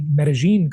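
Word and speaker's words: Medellín: I am coming to you from Medí Colombia or to say it properly Medigene Colombia.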